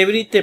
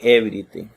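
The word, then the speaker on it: εὕρητε: Se lee Ebrite porque así lo vimos en la gramática. No lo voy a explicar aquí. Pero se lee Ebrite. Creo que así lo pronuncian los griegos actualmente en Grecia.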